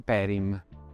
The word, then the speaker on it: Perim: Tutto insieme si legge Perim, ed è il nome di una persona.